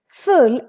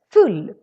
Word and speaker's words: full: have the word full full has two consonants so the u becomes really really short full and full it is